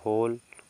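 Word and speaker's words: whole: यहां पे देखिए आपका एओ के पहले डब्लू है तो डब्लू साइलेंट हो जाएगा इसको पढ़ेंगे होल होल मींस होता है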